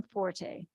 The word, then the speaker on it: Forte: Is it Forte? Because you know that first preferred pronunciation of F-O-R-T in the dictionary is Fort. It is. And I know my husband, who's a killer on grammar and pronunciation, corrected me a long time ago when I said that's not my forte, and he said, no, it's Fort.